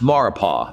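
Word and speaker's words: Maurepas: gulf of mexico rapists it's pronounced maripa the s is silent and it's a body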